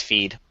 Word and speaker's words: Pheed: I'm pretty sure it's Feed. Yeah. Yeah, you're supposed to pronounce that PH like an F.